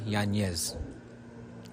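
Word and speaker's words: Yanez: us on yanz my name is yanes my name is yanes yeah Petri I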